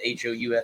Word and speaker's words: Houff: Is that how you pronounce it? Houff. Quinn, yeah, Huff.